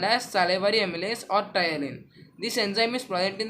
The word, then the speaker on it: ptyalin: It is also called as ptyalin. Here letter P is silent word, so we will call it as ptyalin.